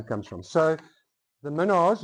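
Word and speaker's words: Mesnard: So the Minnaars, it was spelt M-E-S-N-A-R-D, pronounced Minnaar, and then the spelling changed at the Cape.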